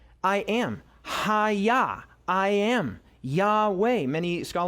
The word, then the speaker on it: Yahweh: Yahweh. Most scholars believe that that's probably the best pronunciation of the name of God.